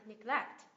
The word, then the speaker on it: neglect: Neglect, nhấn âm tiết thứ hai, neglect.